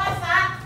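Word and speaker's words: สัตว์: ไก่ ไป คำ ที่ 2 ค่ะ คำ ว่า สัต สั สะกด คำ ว่า สั ส เดี๋ยว มี มี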